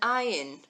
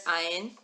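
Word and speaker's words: עין: And here's Ayin. Ayin is also silent.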